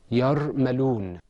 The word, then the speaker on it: يرملون: That word is pronounced yarmaloon.